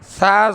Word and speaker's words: ث: আমার দিকে তাকান এবার অনেকে ছা টাকে উচ্চারণ করে এভাবে ছা জবর ছা আপনি যে জবর ছা বলতেছেন এই ছা যেরকম প্রথমে উচ্চারণ করলো ওরকম ছা জবর ছা সা জবর সা জবর তা না সা